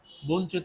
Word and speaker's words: বঞ্চিত: আমরা ওকার দিব আচ্ছা বঞ্চিত উচ্চারণ করতে গিয়ে প্রথমে দন্তন্য বঞ্চিত বঞ্চিত তাহলে বন্তন্যের নিচে হ সন্ত দেবো কারণ এটা হচ্ছে একটা যুক্তবর্ণ আর চ এর সাথে জ রসিকার হবে কারণ এই যে এখানে রসিকার এই কারণে আমরা রসইকার দিব এখন বঞ্চিত ত এর পরে কিন্তু অচ্চারিত হচ্ছে দ্যাটস হোয়াই আমরা ওকার